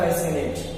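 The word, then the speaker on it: fascinate: के पहले क्या आ गया यस तो सी साइलेंट हो गया यहां पे क्या लिखा है यहां पे लिखा है फेसिनेट फेसिनेट फेसिनेट का मतलब होता है आकर्षण करना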